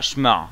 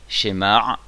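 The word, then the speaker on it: שמע: Donc on dit shemar, on prononce bien le aïn, parce que si on dit schéma, ça va rien redire aussi. Au mieux ça veut rien dire, au pire ça veut dire autre chose. Donc shemar.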